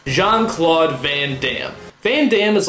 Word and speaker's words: Jean-Claude Van Damme: Four syllables. Jean-Claude Van Damme.